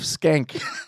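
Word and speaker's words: Schenck: that right here his name is great joseph skank it's spelled s-c-h-e-n-c-k oh my gosh is that not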